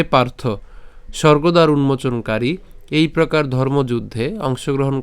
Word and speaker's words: স্বর্গ: সুবর্গ ঠিক আছে সুবর্গ এই যে আমরা স্বর্গ বাংলাতে যেটা বলি এটা উচ্চারণ করা হচ্ছে সুবর্গ এরপর দোয়ারম আমরা দুয়ার